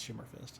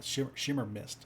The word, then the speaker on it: Shimmer Mist: So the starter VG, I think it's Shimmer Fist. Let me check. Yeah, Shimmer Mist. I keep saying it wrong.